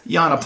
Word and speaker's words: Giannopoulos: saying that I would spell it the same, but the G is not a hard G. It's a Y. It's Yiannopoulos.